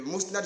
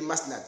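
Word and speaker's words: Musnad: Au lieu de Mousnad, j'ai dit Masnad.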